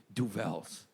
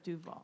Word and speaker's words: Duvel: Oh, you mean Duvel? What? Yeah. And then she went and she got us 2 fucking Duvels. Yeah. She went, you mean Duvel? Instead of Duval.